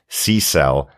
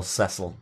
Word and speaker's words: Cecil: still can cope with SE cell as the mispronunciation of cesil very good absolutely finally sea cells sea cells on the seashore cesil there you go there you go yeah two completely different pronunciations of of Cil and Cecil thanks Dr Bob finally